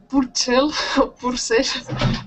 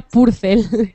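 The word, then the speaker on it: Purcell: Purel purel en español seguro que no se dice bien, sería purcel.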